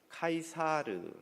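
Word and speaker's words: Caesar: 시저의 이름에서 나온 단어입니다 영어로 쓰이 저라고 잃는 단어를 라틴어로 는 카이사르 라고 발음 하는데요 후에는 이 카이사르가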